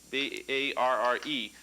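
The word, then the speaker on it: barre: so the bar now it's spelled kind of funny here b a-r-r-e but it's pronounced bar just like b-a-r okay now the bar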